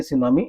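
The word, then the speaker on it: tsunami: एन ए एम आई इसको हम लोग पढ़ेंगे सुनामी जिसमें टी साइलेंट है सुनामी इज अनदर नेचरल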